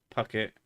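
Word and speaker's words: Phuket: on the island of puket pronounced Pucket for a decade Bangkok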